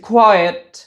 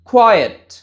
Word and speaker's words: quiet: সো আমাদের first one ছিল কিউ ইউ আইটি উচ্চারণটা হচ্ছে কোয়েট আবারো বলছি কোয়েট সেকেন্ড ওয়ান ছিল কিউ ইউ আইটি এটার উচ্চারণ